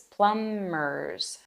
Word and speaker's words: plumbers: electricians Carpenters welders and plumbers notice that the b in plumbers is silent it's plumers and the field is Plumbing how to talk about